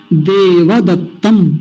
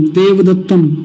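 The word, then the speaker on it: देवदत्तम्: गलत उच्चारण सुनिए पहले, गलत उच्चारण है देव, सही उच्चारण है देव। अगर ये ऐसे लिखा हुआ होता तो इसको बोलते देवदत्तम, देवदत्तम, लेकिन ये थोड़े बोलना है, ये बोलना है देवदत्तम।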